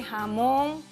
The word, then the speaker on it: jamón: Recuerda que las palabras agudas son aquellas que tienen el acento prosódico en la última sílaba, como es el caso de jamón, perdiz.